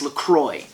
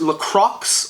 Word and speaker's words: LaCroix: stated in tweets that it is pronounced Lacroix because it is French and therefore pronouncing it